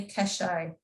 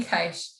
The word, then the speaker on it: cache: always pronounce it correctly your money cache see i knew i got it wrong your money cash uh you probably all